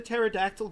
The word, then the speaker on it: pterodactyl: Why couldn't you hear the pterodactyl go to the bathroom? Well, because the P is silent.